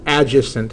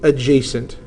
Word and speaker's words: adjacent: That is not pronounced adjacent. It is pronounced adjacent.